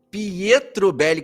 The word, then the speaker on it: Pietrobelli: aqui para eu quero saber qual é a pronúncia correta oi é é 11 pietr Bell pietrobelli que sobrenome bonito hein Doutora obrigada muito